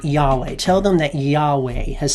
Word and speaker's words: Yahweh: And so Jehovah is a pronunciation that was made up during the Renaissance. But scholars think that really the original way to say this is Yahweh.